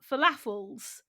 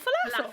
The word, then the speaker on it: falafel: What, falafel? Falafel. I have to really think about it before I say it, because I think I want to say falafel. And it's like the pronunciation is on the fel.